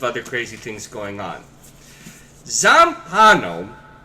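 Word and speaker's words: Zampanò: Zampano, there's an accent on the final O, is Jorge Luis Borges.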